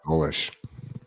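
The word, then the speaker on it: Golesh: But South Florida at their media day, hit their coach Alex Golish. Is it pronounced Golish, like that? yeah, Golish.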